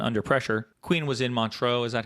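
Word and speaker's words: Montreux: Queen was in Montro, is that how you say it? That's right. Montro.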